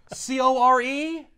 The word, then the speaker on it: Corps: C-O-R-E? No. C-O-R-P-S-W-A-R. A corpse war? No. Pronounced core.